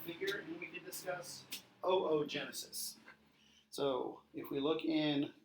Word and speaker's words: oogenesis: So remember, in Latin we pronounce every vowel, so it's not oogenesis, you pronounce both O's, so it's oogenesis, oogonia, oocytes.